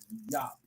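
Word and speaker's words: JOOP!: I think it's pronounced Yop, but I call it. Oh, Juke. Juke, G-J-O-P.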